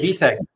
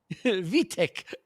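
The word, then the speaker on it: Vojtěch: It's actually VTech. Vietek.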